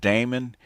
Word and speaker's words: Daemon: What they call it, demon, but I call it Damon because that's the way it's spelled.